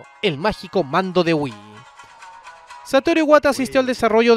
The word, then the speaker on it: Wii: que significa nosotros, y que se pronuncia igual que Nintendo Wii, por lo que al final la traducción oficial al español quedó como "Wii queremos jugar".